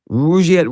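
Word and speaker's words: Rugiet: And Rouette is spelled R U G like rug and IE T.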